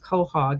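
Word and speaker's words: quahog: and it's qua h o d but they pronounce it Cog and it's a purple and white clam shell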